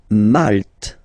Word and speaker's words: Malte: Malte. Same thing here, you don't insist on the final E.